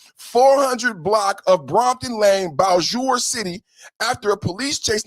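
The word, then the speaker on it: Bossier: And somebody said the other day, the way you pronounce this is Bowjour. Help me out, Chad. Am I saying that correctly? Bowjour. Yesterday, I was saying Bowser City. And then somebody helped me out with the pronunciation. They said it's Bowjour because, you know, it's French down there in Creole.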